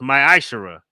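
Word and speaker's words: ma'aser: chapter 3 vers 8-1 means 10th in the Hebrew and is pronounced my AER 10% of every penny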